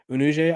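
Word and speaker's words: Unije: n i j e unu I believe is how you say it rir senior redir senior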